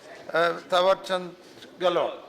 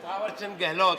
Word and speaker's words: थावरचंद गहलोत: Mister minister थावरचंद गहलोत। ये नाम सही लिया आपने। Correct pronunciation, mister थावरचंद गहलोत, इतना लंबा नाम।